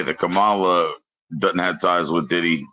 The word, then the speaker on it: Kamala: It's Kamala. And I'm just like laughing in my head because everyone saying her name wrong, getting offended and freaking out.